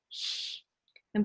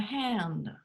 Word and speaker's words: Hand: sounds R, the sound Ö, and the sound H. And that's something you just have to practice.